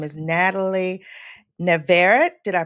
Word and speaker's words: Navarrete: Her name is Natalie Navarrete. Did I pronounce that correctly, Natalie? Navarrete. It's the double R's in Spanish, so Navarrete, but I Oh, go by Navarrete.